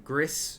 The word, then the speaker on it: Gris: We're going to be playing Gris, or Gree, depending on how you prefer to pronounce it.